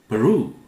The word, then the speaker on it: Peru: Peru, not Peru, Peru, Peruvian. Africa, beautiful large continent. Africa, people who live there are called Africans. Okay, Africans. Australia, Australian. Note the pronunciation and syllable stress, both are important.